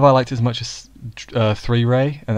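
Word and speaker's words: 3rei: liked is much as 3 ray and that's how you pronounce it 3 Ray not Dre oh yeah three three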